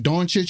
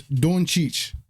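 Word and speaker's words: Dončić: says Luca donich donich for those that want to know how to say donich that say it like donit or Donna kick it's donich all right title of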